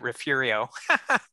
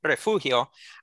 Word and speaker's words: Refugio: urrea uh in refugio i'm aware most people pronounce it refurio but refugio uh and that uh he of course later